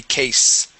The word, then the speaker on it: case: is a uh well case will always have a uh um unvoiced s there but if you had an es okay so an S at the very end that final s would be Vo cases okay okay very good